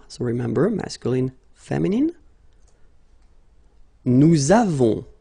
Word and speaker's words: nous avons: so remember, masculine, feminine, nous avons, so you can put this little liaison, link between the two.